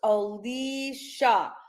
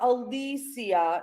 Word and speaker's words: Alicia: And FYI, her name is pronounced Alisha, not Alisia. No one in her family pronounces her name like that.